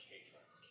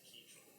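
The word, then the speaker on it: kei truck: They're pronounced K-trucks. K-trucks. Yeah. Okay. The video I watched said key truck. So We are KEI, so.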